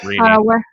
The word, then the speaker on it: Rini: But is it pronounced Rini, or how do I pronounce that one? Rini. Definitely Rini.